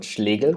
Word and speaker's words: Schlegel: I'm and I'm actually the person who can pronounce Eric's last name in the right way since it's German so it's called schal all right welcome to